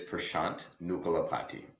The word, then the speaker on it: Prasant Nukalapati: So, it is pashant nucalapati.